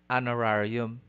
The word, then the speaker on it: honorarium: common attribute your answer the answer is letter b the phoneme h is silent thus we say air honor honorarium exhibit shepherd item number 45 what